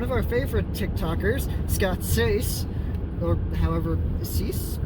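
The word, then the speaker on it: Seiss: But also in the cast is one of our favorite TikTokers, Scott Sace, or however, Cease? I think it's pronounced Cease, but he's one of our favorite people on TikTok.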